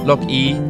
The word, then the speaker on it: 樂意: 乐意，OK，听起来有点像下雨哈。乐意。那是乐意。对。 Sounds like raining, but it's actually a pleasure.